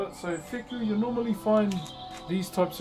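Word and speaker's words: wheku: So, that's called a fiku. W H K U is how you spell it. So, fiku, you normally find these types of carvings on the apex of our meeting houses.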